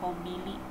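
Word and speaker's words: コンビニ: Terus ada Alfamart dan segala macam, itu disebut dengan kombini. Jadi yang di tengah itu huruf N tapi dibacanya M ya, kombini.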